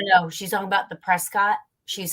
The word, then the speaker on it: Prescott: it up with another town but it is pronounced Prescott which is very well how the people are